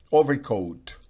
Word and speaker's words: overcoat: Overcoat, overcoat, overcoat. El acento está en la primera sílaba. Nuevamente, fíjense que la O tiene encima la rayita en este diccionario que yo uso, así que se pronuncia O.